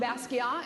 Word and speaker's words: Basquiat: just met, Lisan Basquiat, and by the way, the T is silent. She Thank educated you. me, and That's apparently right. my art teachers were wrong, so if all you guys are saying the T, stop it.